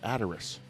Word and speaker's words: The Ataris: of Summer cover yeah I heard that you you pronounce it Ataris I heard somebody on the radio they said that's something something address I'm like what like it's The Ataris no that's one of the common mistakes about the is yeah so